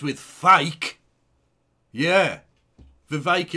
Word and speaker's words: Vivek: rhymes with fake yeah vake it rhymes with snake etc etc Ste oil